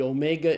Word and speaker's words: omega: old class file so the Omega is pronounced as a long Oh sound as in the English word tone okay all right well